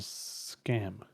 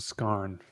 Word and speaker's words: Scarn: Were you pronouncing it Detective Michael Scam? Yeah. Michael Scarn from The Office, I believe.